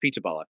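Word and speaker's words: Pizzaballa: I'm not even sure if that's how you pronounce it, but it is P I Z B A L L A. So it's Pizzala.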